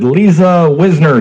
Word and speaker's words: Liza Wisner: On the line with LizaWisner. Did I say it correctly? Oh, yes, you said it correctly.